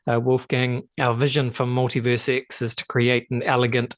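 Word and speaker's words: MultiversX: Is it Multiverse X, or how do you say it? Is it Multiverse or Multiverse X? Multiverse X.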